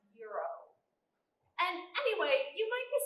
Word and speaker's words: gyros: It's pronounced Euro.